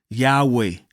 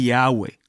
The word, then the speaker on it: Yahweh: Ahora, el nombre Yahweh, que en realidad nunca fue pronunciado por los judíos, normalmente se escribía simplemente con las consonantes y hwh. Cuando eso se latinizó, se le añadió a la forma de Y a H, las vocales y qué resultó, Jehová.